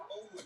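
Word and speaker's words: Onwenu: That's the way he pronounces it. Yeah, he pronounces it Owenu.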